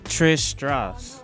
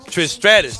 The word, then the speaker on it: Trish Stratus: this one this is trish strauss trish stratus strat excuse me i knew i was gonna say it wrong trish um and i